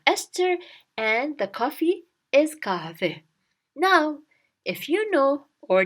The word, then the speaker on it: kahve: Coffee in Turkish is kahve. It's very close to the English word coffee, kahve. Coffee, kahve. Coffee, kahve. So, istiyorum from the story of Esther, and the coffee is kahve.